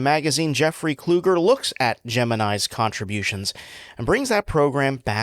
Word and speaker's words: Gemini: the way, doesn't really exist, with establishing the pronunciation as Gemini.